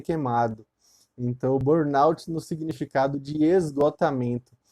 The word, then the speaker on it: Burnout: essa síndrome de bournout algumas pessoas falam de Burnout né no PSD pronúncia equivocada porque a um certo afrancesamento da pronúncia mas na verdade eu tenho é bornalte que em inglês seria